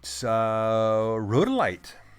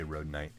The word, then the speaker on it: rhodolite: Rhodolite. Oh, I said it right this time. I always want to say rhodonite.